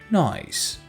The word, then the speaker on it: nice: nice nice dear dear e after c is a silent e and makes c sound soft see nice the children are at